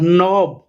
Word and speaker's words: knob: और नॉब, के इसमें साइलेंट है, ठीक है।